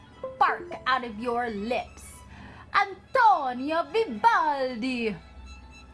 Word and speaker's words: Antonio Vivaldi: all you've got to say his name correctly I'm torn your Vivaldi yes you gotta make it really burn out of your lips I'm towing your Vivaldi say it just like that very good Vivaldi